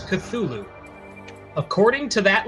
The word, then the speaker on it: Cthulhu: According to Lovecraft, it should be pronounced Cthulhu.